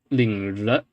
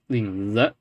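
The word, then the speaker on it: 领子: A lot of people will see this and go "r," but it's not "r." It's not 领子. It's 领子. It's basically Z with no frication. It's Z, 领子.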